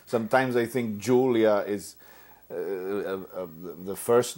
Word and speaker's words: Julia: And my family has always pronounced it like they pronounce it in Catalan. So say it one more time. Julia. Julia.